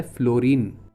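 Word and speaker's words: Fluorine: इसका नाम है फ्लोरीन। स्पेलिंग चेक कर लो, यू साइलेंट है।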